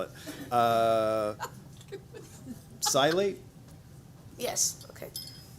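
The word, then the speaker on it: psilate: life, and then ask you if you can spell it. Silate? Yes, okay. Silate, P-S-I-L-A-T-E, silate.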